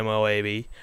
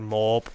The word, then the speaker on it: MOAB: i pick up the moab or the moab or the mob whichever you want to pronounce it but i'm going on